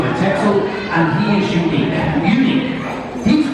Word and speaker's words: Texel: Sheep who actually comes from a little island off of Holland called Texel, which is how the Dutch pronounce that. It's Texel. We call him Texel, and he is unique.